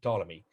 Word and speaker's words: Ptolemy: second century a.d ptolemy you don't pretend you don't uh pronounce his let his first letter p just say ptolemy but i see it